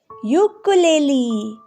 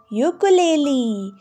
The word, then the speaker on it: ukulele: do we read this ukulele ukulele long u sound u ukulele so children long u says you you you just like the name of the letter so children watch the